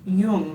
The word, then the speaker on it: Jung: Pronounced Yung, not Y, please. I've said it young until this exact moment. Yung.